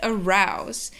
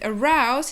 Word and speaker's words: arouse: The first one is that the O and U combination creates a diphthong, the ow sound, and the next thing is that the S makes a Z sound.